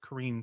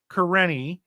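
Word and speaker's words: Kerene: okay first of all kareni by the way i i want to pronounce that karine so bad but i know correct uh kareni somehow knows what logan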